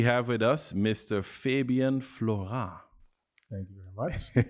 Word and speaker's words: Florant: and today we have with us Mr Fabian Flora thank you very much it's a very good pronunciation yeah French um damn we have to